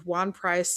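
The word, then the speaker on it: Ejuan Price: Um Pitt had a defensive end named Wan Price, spelled with an E, the E is silent, just go with me.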